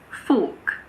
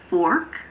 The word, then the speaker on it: fork: In standard British English, as well as in Australian English, the R is silent if it is followed by a consonant or if it's at the end of a word. For example, in this word, fork. In American English, it's fork, but in British English, it's fork.